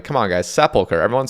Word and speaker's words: Sepulchre: And it is pronounced Sepulchre, not Sepulture. I still hear that all the time. Like, come on, guys. Sepulchre.